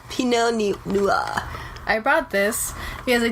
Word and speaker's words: Pinot Noir: You just gotta pretend you're French. Pinot Noir.